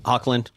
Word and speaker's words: Hoechlin: name is spelled. I Ty don't know it. Hocklin, was it? Yeah, Hocklin. Hoechlin.